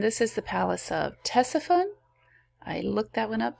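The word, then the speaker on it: Ctesiphon: is the palace of tessaphone i looked that one up too the c is not pronounced uh was created by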